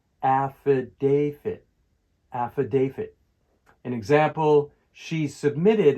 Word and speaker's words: affidavit: For the pronunciation of affidavit, the stress is on the third syllable, affidavit.